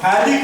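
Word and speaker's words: phthalic: Acid, it is called हैलिक acid, इसका नाम है, पीए साइलेंट रहता है, हैलिक acid, it is called हैलिक acid, हैलिक acid.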